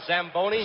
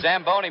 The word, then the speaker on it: Zamboni: it's a tell you you should have pronounced it what does it call the samboni Zamboni machine and Joe you